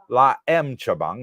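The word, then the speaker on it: Laem Chabang: La M Chabang. Let me pronounce it correctly there.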